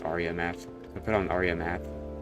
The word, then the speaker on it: Aria Math: I put on Area Math, and I was like, I think it's pronounced Aria Math.